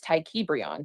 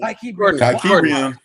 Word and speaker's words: Tykebrion: But it is something that has bothered me my entire life that people choose not to say my correct name, and it's Tykebrion.